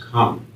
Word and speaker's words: cum: There's a Latin word, and it's cum, and it's pronounced come.